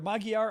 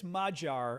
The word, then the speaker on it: Magyar: He loses hugely to Peter Magyar, I'm going to say, or it might be Magyar. I think Magyar might be the correct way to pronounce it. You Eastern Europeans, you pronounce your names very funny. It's like Fico in Slovakia. So I think it's Majar, I think I read today.